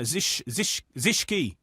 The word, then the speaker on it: Zischke: Yeah, Zischke. I'm told. Okay. Yeah, you pronounce the E.